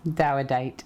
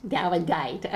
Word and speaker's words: Dawedeit: I didn't pronounce that right, did I? Dawedeit. Dawedeit, okay.